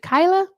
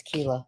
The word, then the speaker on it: Kila: I've I've been forgetting to give everyone the option, so I'm gonna try with Kila here. Is it Kyla? Is it Kyla? No, you had it right. It's Kila.